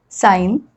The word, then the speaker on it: sign: When G comes before N, many times we don't pronounce that G.